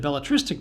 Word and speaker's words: belletristic: words have four or you could say that bellatristic doesn't belong because the penultimate syllable has the primary stress while the other words are stressed on their anti-penultimate syllables or you could say the